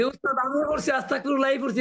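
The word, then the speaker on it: أستغفر الله: হবে মোটা মোটা হবে আর মোটা হলে বাংলা কিসের মত হবে ল হবে তার মানে কি হবে আস্তাগফিরুল্লাহ আস্তাগফিরুল্লাহ আচ্ছা এই ফিরুল্লাহ হবে না না আস্তাগফিরুল্লাহ হবে কোনটা হবে আচ্ছা এখানে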